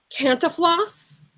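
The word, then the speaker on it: Cantinflas: beat out by I'm gonna say it wrong canta floss CA NT INF la s he played and equally hard to pronounce Thames passaport in around the world in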